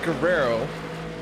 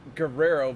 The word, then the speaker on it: Guerrero: Vicente Guerrero. You have to roll the R's. Can you roll your R's?